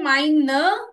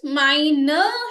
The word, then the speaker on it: meine: So either meine Schwester, always remember the E, which is pronounced A, with mine in the end when it's a feminine noun.